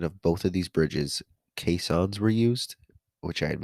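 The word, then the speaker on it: caisson: during the construction of both of these Bridges kons were used which I had mentioned um at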